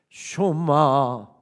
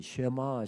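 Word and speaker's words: שְׁמַע: 이렇게 히브리어로 설교를 시작합니다 쇼마 이시엘 이스라엘아 들으라 여기서 우리가 흔히 쉐마 쉐마 이렇게 히 발을 합니다만은 정확한 히브리어 발음은 소마입니다 들으라고 하는 뜻입니다 조금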